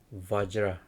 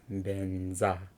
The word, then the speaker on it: vajra: So anyway, most people pronounce as benza, but some people ask question why it's called pronounced benza, but it's a vajra.